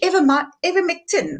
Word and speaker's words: ivermectin: Now, I can say it very well in Afrikaans, but in English, Ivermectin. I don't know how to really pronounce it.